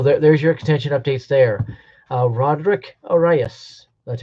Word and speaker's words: Roderick Arias: Roderick Arias. That's how you pronounce it.